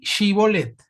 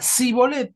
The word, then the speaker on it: Shibolet: Parece que los de Efraim pronunciaban mal una palabra, ¿no?, que era shibolet. No le salía a decir el shi y decían sí.